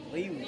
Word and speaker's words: Ryu: Riu. Riu. R-Y-U tapi R-nya tipis.